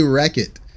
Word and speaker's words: Rechot: How do I pronounce my name? I say Wreck-It.